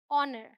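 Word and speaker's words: honour: rhythm ये है honest एओ से शुरू होने वाले कई ऐसे वर्ड्स है जिनमें एच साइलेंट है हम ओ से ही शुरुआत करते हैं यह समझ के जैसे एच लिखा ही ना हो तो ये है ऑनेस्ट यह है आवर ये है ऑनर ठीक है यह है एयर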